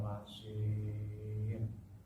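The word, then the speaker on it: مصير: Wa ma'wahu jahannam wa bi'sal masir. Dengan shod itu agak bersiul cara pengucapannya.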